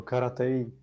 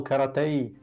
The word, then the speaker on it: karate: Vieš, ako on vyslovuje voodoo, voodoo, mne to pripomína Rosa, jeho karatei. On to vyslovoval karatei, nie karate.